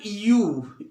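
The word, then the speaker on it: ewe: जैसे बेटा यू, ई डब्ल्यू ई, यू means भेड़ होता है, यू एंड रैम, ये मादा भेड़ होती है।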